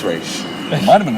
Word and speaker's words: Ra's al Ghul: This man, who has a doctorate, says it's Ra's.